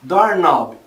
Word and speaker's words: doorknob: Por exemplo, a gente tem palavras terminadas em K e N no inglês, onde a gente não pronuncia o som do K. Know, saber, knife, faca, knee, joelho, doorknob, maçaneta.